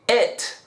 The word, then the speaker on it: it: Pero el pronombre, que sería cosa, se pronuncia con una combinación muy sutil entre la E y la I, es decir, it.